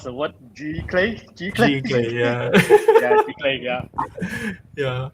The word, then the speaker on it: Giclee: But at least one thing we learned tonight, at least we can pronounce the word Giclee. Giclee, yeah.